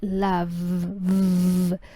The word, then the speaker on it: love: la primera es Love se escribe con e al final pero se pronuncia Love por lo tanto ese